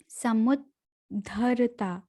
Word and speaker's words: समुद्धरता: तेषामहं समुद्धर्ता मृत्यु संसार सागरात् भवामि न चिरात् पार्थ मय्यावेशितचेतसाम्। तेषामहं समुद्धरता समुद्धरता, यहाँ पर आधा द, समुद्धरता, ध पूरा रहेगा।